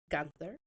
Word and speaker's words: Guenther: I have a fellow adoptee, and his name is Wilson Guenther. Yep. Did I pronounce that right?